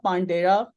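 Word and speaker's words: pandera: अच्छा, इसी तरह आप पांडास की तरह ना पांडेरा, पांडेरा के नाम से एक पैकेज है, प्रोनाउंसिएशन ऐसी है।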